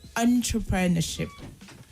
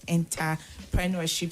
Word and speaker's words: entrepreneurship: opponent and the word is entrepreneurship UNT instead of enter I think the both of you actually mispronounced that word is entrepreneurship okay and not enterpreneurship so with that because